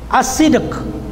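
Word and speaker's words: الصدق: Okay, pang-apat na kondisyon ng la ilaha illallah ay ang as-sidq. Okay. Okay, sulat ko ng maayos, no? Letra por letra. A double S I D Q. As-sidq. Okay, yun ang patamang pagbigkas sa kanya.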